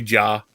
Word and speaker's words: Ja: know his name well people are still calling him jay morant and stuff like that just learn learn how to say jaw um it's exactly how it's spelled ja ja marant uh